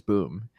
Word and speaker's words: Boom: We were calling him Bow, but I think uh the correct pronunciation is Boom.